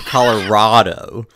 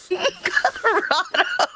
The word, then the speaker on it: Colorado: it's pronounced Colorado or Colorado. Colorado. She says Colorado. I say Colorado. Not Rado. It's not a T. It's Rado. Rado. Like rad.